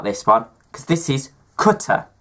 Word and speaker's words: Qatar: Now I have a debate about this one, because this is Qatar. You pronounce it Qatar because it's an Arabic word. It's not Qatar.